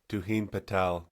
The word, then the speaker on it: Tuhin: Okay, new name, Tunin Patel. You just won 10,000 combat credits, buddy. How do you pronounce that, Ben? Tuhin Patel. Tuhin Patel.